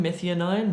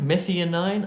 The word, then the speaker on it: methionine: not renal dysfunction oh I'm gonna have trouble pronouncing this word number 12 mithi oh nine methionine methionine I suspect number thirteen charcoal or activated charcoal